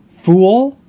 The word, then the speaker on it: fool: Fool, there's two sounds there. Fool, like kung fu and all.